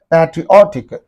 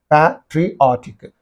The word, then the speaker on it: patriotic: have to give the stress apologetic like that patriotic patriotic so first of all you have to learn